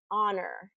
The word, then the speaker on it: honor: And these are words that have a silent, very common words that have a silent H. And there are more words in English that have this silent H, but these are probably the most common, is honor, hour, herbal, air, and alleluia, alleluia.